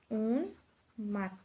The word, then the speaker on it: উন্মাদ: থাকবে অর্থাৎ উচ্চারিত হবে যেমন উন্মাদ উন্মাদের মধ্যে উন্মাদ এখানে ন এর সাথে ম ফলাটা যুক্ত রয়েছে যার কারণে এই ম এর উচ্চারণটা অবিকৃত থাকবে অর্থাৎ উচ্চারিত হবে উন মাত তারপরে যদি গিয়ে দেখি